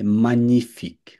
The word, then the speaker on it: magnifique: এটা মনে করেন নাই, এটা আহ, জি, যে জি যেটা আছে এটা নাই ধরেন। magnifique হুম, যে আর কি, মানে ইংলিশে আমরা যে ফরাসিতে বলি যে, যেটা উচ্চারণ করা যাবে না। তাহলে মানিফিক, মা নি, magnifique মানিফিক, এটা মেয়ে না, এটা মা, মানিফিক।